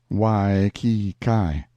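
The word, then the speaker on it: Waikiki: is the village of weiki usually pronounced whyi Kai once the capital of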